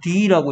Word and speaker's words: the: 자, 그리고 얘는 D라고 읽어야 돼. 왜냐하면 engineer 할때 여기 에 소리는 모음이죠, 모음. 모음 소리 앞에 더는 더가 아니고 D가 돼서 the engineer 됩니다.